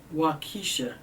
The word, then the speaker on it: Waukesha: were injured as well as a community of wakisha and i've known pronouncing this wrong w-a-u-k-e-s-h we are deeply saddened